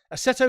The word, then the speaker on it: Assetto: said English people in Italian, and it's like Assetto Corsa Competizione. There you go. Yeah, so Assetto Corsa that ACC is on PS5, and that doesn't have a VR mode either.